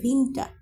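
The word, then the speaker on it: Winter: বলবো কেন ভিন্নটা বলবো কারণ আমরা জানি যে ডব্লিউ এর উচ্চারণটা ভয়ের মত হয় এখানে উইন্টার না হয়ে এখানে হচ্ছে ভিন্নটা ভিন্নটা মানে হচ্ছে শীতকাল এরপরে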